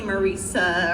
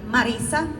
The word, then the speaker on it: Marisa: Some people call me Marica or things like that. Can I call you Marissa? Is that your name? Yeah. Oh my well, how you pronounce it is a marisa.